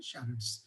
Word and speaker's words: charades: ये पहले से ही चला आ रहा है, उसको charades बोला जाता है, इसका प्रोनाउंसिएशन है charades।